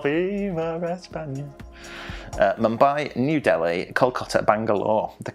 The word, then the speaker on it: Kolkata: Calcutta. That's how they say it. We say it Calcutta, they say it Kolkata.